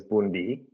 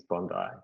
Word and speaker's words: Bondi: So it's not pronounced Bondi, it's pronounced Bundi. No, historically. So its indigenous name originally was Bundi. But I guess colonization and now the accepted term is Bondi.